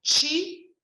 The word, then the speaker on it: qi: E o QI, que se pronuncia Chi, é energia.